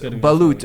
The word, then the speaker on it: balut: I noticed that one of the foods that he presented to someone was balut, a fertilized.